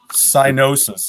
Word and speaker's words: Psygnosis: Cynosis is what I would say. Cynos. It's got that G in there. Yeah, but so does the word sign. And you don't go sigin.